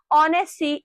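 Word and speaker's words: honesty: पढ़ी है that says ऑनेस्टी इज the best policy अब मैं अगर ऑनेस्टी वर्ड की बात करूं तो वहां क्या है एच म्यूट है एच को हम प्रोनाउंस नहीं करते वी राइट इट एज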